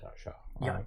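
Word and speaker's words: Yautja: I think it's called Yachtja.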